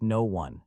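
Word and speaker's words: Noone: It is pronounced no one.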